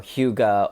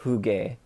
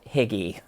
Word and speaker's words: hygge: to the people who corrected my pronunciation of hygge um or huga or juge depending on i guess it's a there's a couple of variations it's uh the one that i am pronounced correctly called higgy last week um so i do appreciate the correction on that so that i don't continue making that mistake going forward i still need to